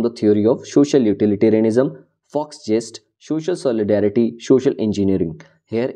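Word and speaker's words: Volksgeist: Do not confused with this letter V. As you are aware of the German car brand, that is Volkswagen, that started from V also. It is a German word, so we will pronounce it as Fox gist.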